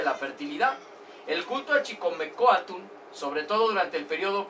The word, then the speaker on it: Chicomecoatl: Bueno, esta es Chicomecoatl. ¿Ok? Que en náhuatl se pronuncia Chicomecoatl.